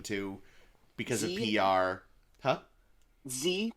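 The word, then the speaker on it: Xe: because of PR huh Z print but it's spelled x-e for some reason because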